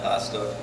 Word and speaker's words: Hosta: is Pastor it's spelled h-o-s-t-a like plant I have a ba